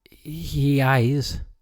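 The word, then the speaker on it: Heize: Japanese shut up so this is he eyes I think that's how that's pronounced it's h-e-i-z-e I don't know how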